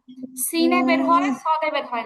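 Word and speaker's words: س: তারপরটা সিন চিন্ত সহজ একইভাবে জিহবার আগা নিচের দাঁতের পিছনে লাগবে কিন্তু এখানে হচ্ছে বাতাসটা বের হবে এরকম একটা আওয়াজ হবে খেয়াল করি আগে আমারটা শুনেন তারপরে পড়বেন এরকম একটা আওয়াজ হবে মানে শীষ জাতীয় একটা আওয়াজ হবে বাতাসও বের হবে আর সিনটা হচ্ছে সদের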